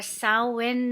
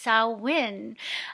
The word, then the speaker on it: Samhain: amazing halloween night or sao win night as they say in the irish gaelic language it's spelled samhain s-a-m-h-a-i-n but pronounced sao win i'm going to talk